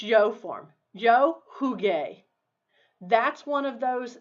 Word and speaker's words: jugué: Yo jugué. That's one of those spelling changes. To preserve the hard G sound, jugué, we have to put a U there.